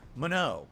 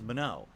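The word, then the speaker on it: Manon: I tried Mono. It's actually official. That's how you pronounce her name. That's how the game says it. It says Mono.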